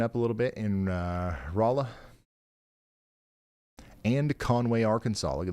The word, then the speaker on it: Rolla: She says the founders tried to name Rolla Raleigh, but they didn't know how to spell it and ended up with Rolla. So that's why it's pronounced that way.